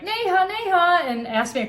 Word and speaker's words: Neha: them you know raised their hand is like Neha Neha and asked me a question and I